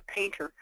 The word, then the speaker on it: Paynter: in our businesses so what's a painter it's spelled with a Y it's a person's last